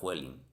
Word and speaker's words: Huelin: Parece que se pronuncia Huelín, pero procede del nombre de un empresario alemán, Huelin.